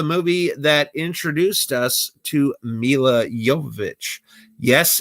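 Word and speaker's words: Milla Jovovich: And The Fifth Element was the movie that introduced us to Mila Jovovich. Yes, it is a soft J. It is pronounced like a Y, not like a J. It's Mila Jovovich, not Mila Jovovich.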